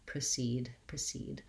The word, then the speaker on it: precede: word with a schwa, you want to try to aim for having that I sound, precede.